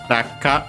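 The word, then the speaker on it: 落下: Technically speaking, by the way, it would be Raku-ka originally, based on the kanji. But yeah, you can see why Raku-ka. Technically the U would be barely heard if at all. Anyway, Raku-ka So unsurprising that it's actually straight up the same consonant anyway, became simply double consonant ka. Made much easier. Rakka.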